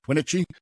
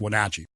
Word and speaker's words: Wenatchee: little place called Wenatchee, which I like to mispronounce on purpose, Wenatchee, but it's Wenatchee.